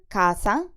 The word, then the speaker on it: casa: In the word CASA, the C sounds like a K because it's followed by the vowel A.